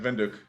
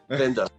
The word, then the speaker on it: Windhoek: is let me see, Windhoek. What's the name of the capital? What the pronunciation? Like Windhoek. Windhoek. Windhoek. Yes. You need to put a German swing on it. Windhoek.